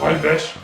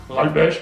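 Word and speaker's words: Rellebeche: Alors, bonjour, je suis le professeur Ralbech, R-E-L-L-E-B-E-C-H-E, Ralbech, comme ça se prononce.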